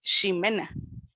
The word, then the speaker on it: Ximena: Jimena, cuando se escribe con X, igual se pronuncia Ximena.